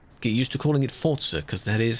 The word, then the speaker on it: Forza: Get used to calling it Forza, because that is how it's pronounced. It is an Italian word, the devs say it's Forza.